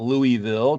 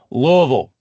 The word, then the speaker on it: Louisville: there you go look said correctly not Louisville please don't say Louisville everybody will know you're not from Louisville Lille Lille it's just there's just two syllables and one vow Lille okay so uh Muhammad